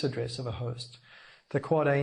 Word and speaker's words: AAA: surprised to learn there's an 8 AAA it's pronounced quite a record that's the ipv6 address of a host the quad-a name was chosen simply because the length of